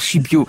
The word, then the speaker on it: Scipio: Je me suis permis de dire Scipio, mais oui, dès qu'il y a une consonance italienne, évidemment, je ne laisse pas passer, c'est comme ça.